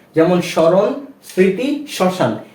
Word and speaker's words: স্মরণ: নিয়মটা জেনে নিয়েছি যে যদি কোন শব্দের প্রথম ব্যঞ্জন বর্ণের সাথে ম ফলা যুক্ত হয় সেক্ষেত্রে তার উচ্চারণটা হবে না যেমন স্মরণ স্মৃতি শ্মশান এ ধরনের